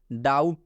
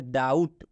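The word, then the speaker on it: doubt: डाउट, तो इसको हम लोग बी नहीं पढ़ेंगे, बी का उच्चारण बिल्कुल आपको नहीं करना है। इसको क्या पढ़ेंगे? डाउट।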